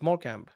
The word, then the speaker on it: Morecambe: I thought it's Morecambe. Yeah, it's Morecambe. Morecambe is how they say it. You and your English pronunciations, bro.